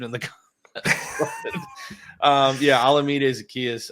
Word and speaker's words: Olamide Zaccheaus: Olamide Zaccheaus, I believe, is how you say it.